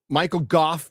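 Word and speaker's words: Michael Gough: I was doing my video and I was Michael Goff, by the way.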